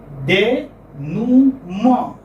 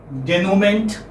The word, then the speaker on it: denouement: Because what is the pronunciation? Denuma. Denuma. How do we transcribe it? We transcribe it Nu, Ma. This is how it is transcribed. Denuma. Do you understand this? Yes, sir. And like one who doesn't know the pronunciation might say denouement, which will be very absurd, very awkward, very weird.